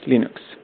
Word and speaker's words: Linux: is linus torvalds and i pronounce linux as linux